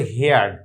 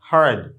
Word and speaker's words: heard: এটার প্রোনাউন্স আমরা অনেকেই ভুল করি, আমরা বলি হেয়ার্ড, হেয়ার মানে শোনা, আর হেয়ারের পাস্ট ফর্ম হচ্ছে, আমরা এটাকে অনেকে বলি হেয়ার্ড, আসলে এটা হেয়ার্ড না, এটা হবে হার্ড।